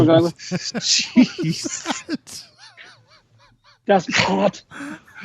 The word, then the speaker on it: Das Boot: Das Boot. If you're not clearing your throat, you're not saying it right.